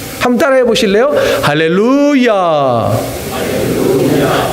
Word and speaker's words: 할렐루야: 그리고 히브리어는요, 액센트가 대부분 꽁지에 있어요. 뒷부분에가 액센트가 있단 말입니다. 그러면 이 네자의 액센트가 어디에 있느냐면 루에 있습니다. 그러면 이 발음을 할 때 우리가 뭐라고 해야 되냐면 할렐루야 이렇게 해야 되는 거예요.